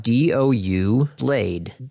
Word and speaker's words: Doublade: D O U blade. Oh, dough blade. Dolblade. Well, cuz it's double, right? So, it's doubleade.